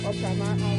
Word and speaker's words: Oproama: are going to Oprama and we are going to be taking the boat and we are going to one of my husband's relatives' village.